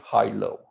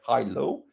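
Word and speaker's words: HaLow: is also called wi-fi hi-lo uh it's uh it's spelled uh like this h a low but it's uh it's called wi-fi hi-lo it's uh it's a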